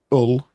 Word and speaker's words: Hull: gonna go off on the Saturday, the 11th of July, at the Deep in Hull, with a silent H.